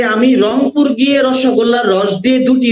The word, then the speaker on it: রংপুর: আবার তুমি যদি এখান থেকে রংপুরে যাও, রংপুরের লোক কিন্তু আবার রয়ের উচ্চারণ করতে পারে না, যদিও তাদের এলাকার নাম হলো রংপুর, তারা বলে হলো অঙ্কুর।